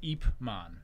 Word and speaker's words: Ip Man: Ip Man. Ip Man. IP Man is what it looks like.